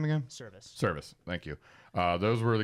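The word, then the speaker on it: Servais: Service.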